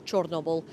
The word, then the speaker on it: Chornobyl: Among them, may all the victims of the Chernobyl disaster, the Ukrainian pronunciation is Chornobyl, may they rest in peace.